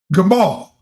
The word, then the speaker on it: gamal: L Gamal.